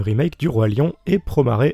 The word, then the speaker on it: Promare: Et oui, c'est Promare et pas Promare comme je le prononcerai à la japonaise d'habitude.